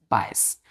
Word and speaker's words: bias: तो इसका फर्स्ट होगा बच्चों BIAS, बायस। इसको क्या पढ़ते हैं, बायस। क्या पढ़ते हैं, बायस। ए यहाँ पे बच्चों साइलेंट है, बायस पढ़ते हैं इसको।